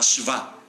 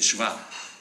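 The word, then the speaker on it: शव: Pero es más maravilloso cuando le quitamos la I, y en sánscrito Shiva sin I se pronunciará Shva, se dice Shva.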